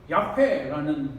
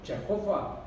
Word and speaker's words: 야훼: 하나님이시니 그래서 여호와 하나님은 독일 사람들이 히브리어를 번역하면서 야훼라는 발음을 독일식 발음으로 제호바, 여호와 이렇게 해가지고 지금 제호바 이렇게 여호와 됐지만 우리는 야훼 하나님으로 명명하는 것이 옳습니다. 그것이 더 히브리어 원어에 가깝고 그래서 야훼 하나님이다.